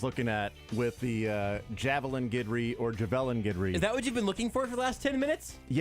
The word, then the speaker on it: Guidry: Well, let me tell you, they are all in agreement on Guidry. Okay. His last name is 100% Guidry. How is that spelled phonetically? Guidry. Guidry, they spell it Gid-REE.